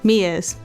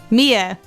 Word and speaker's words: Mia: place a wiretap on Maya's phone Mia's Mia it's Mia the other one's Maya sorry Mia oh when you